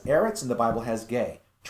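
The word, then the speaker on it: γῆ: Gamma eta, or gay, if you would pronounce it that way.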